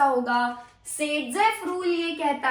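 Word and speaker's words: Saytzeff: सेडजेफ rule यह कहता है सेडजेफ का स्पेलिंग क्या है?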